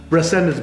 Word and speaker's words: Resendez: carpet and tile cleaning you don't have to roll the RS I love it now resendence Bros carpet and tile